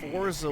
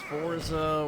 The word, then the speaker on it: Forza: ] it off f I hate how some people pronounce Forza with a t yeah the British fza you know they forget to say the T and every other word